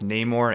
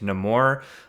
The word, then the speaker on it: Namor: names in the film it's pronounced both Namor and no more um so I'm gonna